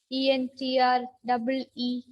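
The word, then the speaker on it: entrée: Spell as, or it is pronounced as entree, which means what do you say? Before a meal, before you start a complete meal, you have something, right? What is the other name? Starters. Starters. Yeah. The spelling is, I hope it is ENTREE, but we pronounce it as entree.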